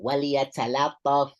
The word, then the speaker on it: وليتلطف: No, waliyatalattaf. You hear that? Lattaf, not lattaf, okay?